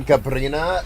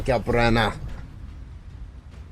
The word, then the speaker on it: Gabriana: It's not Gabrina, it's uh Gabriana.